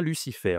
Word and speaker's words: Lucifer: Allez, celui-là, est-ce que on a Lucifer ? Oui, on a le F ici. Bref, je dois prononcer le F.